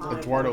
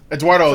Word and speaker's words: Eduardo: Eduardo sounds right. And Sorry? Eduardo, Sorry? that's how you say it. You didn't butcher it.